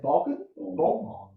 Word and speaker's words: Born: Born. Not me, born. Born and Vaughan, change one letter.